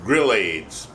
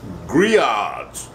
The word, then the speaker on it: Grillades: Looks like it's when you look at the word Grillades, it looks like it's spelled Grillades. We ain't got no AIDS. And we ain't gonna grill it. It's Grillades.